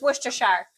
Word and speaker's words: Worcestershire: I see here people, it's Worcestershire. Hear people pronounce that a boatload of ways.